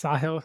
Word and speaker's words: Sahil: So as I mentioned before the call, if you don't know how to pronounce my name, the easiest way to remember is a saw and a hill. So it's Sahil.